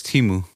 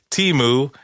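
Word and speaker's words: Temu: this app called TAMU I thought it was timu timu TAMU uh unfortunately yes I have heard about it I I haven't uh temo is uh an app okay Teemu even though it's spelled t-e-m-u TAMU anyway uh it's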